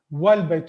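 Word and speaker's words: والبيت: is coming before that, then this alif is not pronounced. It is not pronounced. It is not mentioned. So let's say if I say va is written here, wal baytu means and the house, wal baytu. So how I'm reading it, wal baytu.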